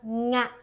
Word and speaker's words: nga: First, start with an English word, sing.